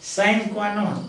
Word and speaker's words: sine qua non: a scenic quinone but in the english we pronounce it as sine qua non yes without with you